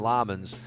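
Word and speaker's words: Lammens: I say Lemons and they call him Lamans.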